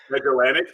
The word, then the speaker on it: Magellanic: How do we pronounce it? Magellanic. Magellanic.